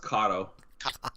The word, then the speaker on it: Kato: That's Kato. Okay. Character design, Ryoma Ito. Ryoma. Ryoma? That's how you pronounce that?